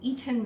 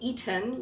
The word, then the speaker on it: Eton: According to Google, an Eton Mess, and I say Eton like I'm the person who pronounces that other T in Toronto.